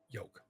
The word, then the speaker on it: yolk: Yolk. Okay, I say yolk. I You put pronounce that the L, L. you put that, you make sure that L is present.